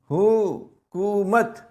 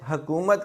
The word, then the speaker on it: حکومت: آمدید۔ اگلا لفظ دیکھیں، یہ حکومت، اس کی ہے پر بھی پیش ہے، کاف پر بھی پیش ہے، حکومت۔ اکثر لوگ اسے حکومت کہتے ہیں جو کہ غلط